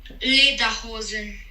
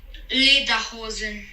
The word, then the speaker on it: Lederhosen: Vamos escutar corretamente a pronúncia em alemão. Dirndl. Traje feminino. Dirndl. E agora o traje masculino. Lederhosen. Novamente. Lederhosen.